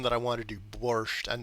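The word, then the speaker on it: борщ: In the original Russian, there is no T at the end. It's just borch.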